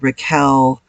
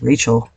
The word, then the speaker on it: Rachel: an easy name to It's pronounced wrong all the time Rael um richel I've got I used to get rat shell people would turn it into really weird things and my mom absolutely